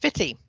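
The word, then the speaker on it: Footdee: for non-Aberdonians like me, spelt Footy, but of course pronounced Fitty.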